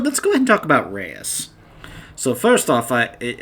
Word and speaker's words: Reyes: by my father you know how to properly pronounce certain words you know like in his case you don't say Reyes you say Reyes you know that's how you properly say his